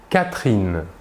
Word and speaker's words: Catherine: Le E caduc précédé d'une seule consonne prononcée, cette consonne est donc prononcée, le E caduc n'est pas prononcé. Nous dirons par exemple « samedi »,« rapidement » ou encore « Catherine ».